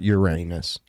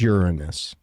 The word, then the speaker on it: Uranus: They're still trying to, which it's not Uranus. It's Uranus. Oh, okay. Well, that's good to know. Yeah, you do not pronounce it Uranus.